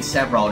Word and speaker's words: several: dụng rồi nhưng mà có thể các bạn phát âm sai tại vì cái chữ này th chên nó chỉ có hai âm tiết thôi Nó là nỗi niềm